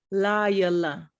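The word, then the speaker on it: לילה: So it'd be la, not lay or la. It would be la. Laila, There you go. Laila, See, you're saying la.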